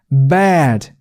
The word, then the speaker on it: bad: 그래서 bad, 턱이 이만큼씩 내려가는 게 맞습니다. bad 이렇게 턱을 안 움직이면 얘는 bed 같은 발음이 되기 십상이에요. 참고해 주시고요.